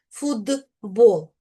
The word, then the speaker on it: футбол: Зверніть увагу, що це слово ми пишемо з буквою Т, а ось вимовляємо як футбол. В звуковій транскрипції ми бачимо звук д.